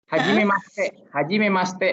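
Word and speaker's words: はじめまして: Kalau ini tertulisnya dia pakai iya, cuman dalam pengucapan hajime mashite. Jadi i-nya itu agak hilang.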